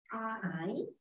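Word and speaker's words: 爱: I fourth tone. Fourth tone. I angry when you are angry. No. I. Good. I. Yes. I. Very good. I is means love.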